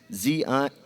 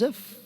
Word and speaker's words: Ziv: Please make sure you let everyone know the pronunciation is Z-I-V. ZIV. I thought he told us Ziff.